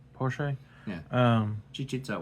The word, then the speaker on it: Porsche: he open up guess he opens up what porch I guess technically you can cheat him out with porch right is that what people play or Porche how do you say her name Porsche yeah um she cheats out what a four